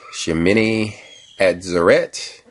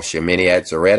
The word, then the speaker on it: Shemini Atzeret: Now, with all this going on, this eighth day of the Feast of Tabernacles that they call Shemini Atzeret, I believe is how it's pronounced, is actually already a significant day.